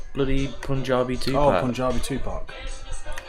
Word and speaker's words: Tupac: Oh, Punjabi Tupac. Said it right that time. Tupac. Not Tupac. Tupac.